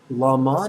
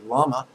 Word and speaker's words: Lama: So first syllables, la, la, la. Second syllable, ma, ma, ma.